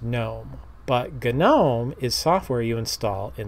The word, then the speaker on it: GNOME: gnome statue have in your garden that is pronounced gnome but ghen ohm is software you install in Linux let's get